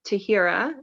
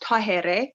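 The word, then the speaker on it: Tahirih: mother passed away and my name is actually pronounced tahere and i was named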